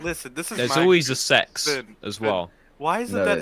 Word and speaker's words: CeX: a store over here called sex and it's spelled CeX and they sell secondhand